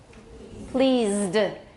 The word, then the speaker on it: pleased: Pleased. This is a Z and this is a D sound, 1 syllable.